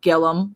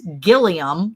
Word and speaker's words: Gilliam: you said it was Gillum farms and I said okay so it's not pronounced Gilliam like it's spelled and y'all were like no it's Gillum and I was like